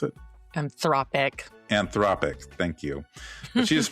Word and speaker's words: Anthropic: And Andrea not only led the charge on the famous lawsuit against Anthropic, is that how you pronounce it? Anthropic, thank you.